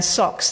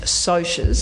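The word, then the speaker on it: Socs: Now, Socks, that's spelled S-O-C-S, and it's short for socials. And Cohen and I both know now that it's meant to be pronounced socias.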